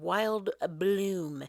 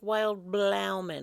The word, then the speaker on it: Wild Bloom: new spring book called Wild Bloom. It doesn't look like it's spelled like Wild Bloom. It looks like it's spelled like Wild Blauman or Wild Bloman.